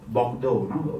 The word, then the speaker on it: Bordeaux: So the correct pronunciation we don't talk about the English way of looking. It's called Bordeaux.